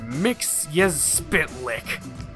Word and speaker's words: Mxyzptlk: I am gonna butcher this name, but we're going with Adventures of Superman pronunciation, so Mr. Mix-Yaz-Spitlick. Mr. Mix-Yaz-Spitlick. Mix-Yaz- No! Repeat after me, bright boy. It's Mix. Yes. Spitlick.